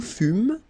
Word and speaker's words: fûmes: Okay, then nous fûmes, final S not pronounced.